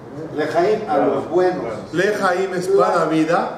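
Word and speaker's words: לחיים: ¿Cómo se dice? ¿Lajaim o Lejaim? ¿Zohreno? ¿Le o la? ¿Zohreno? ¿Le? ¿Zohreno? ¿Le o la? ¿Le? ¿Le? ¿Qué diferencia hay de le a la? La es no.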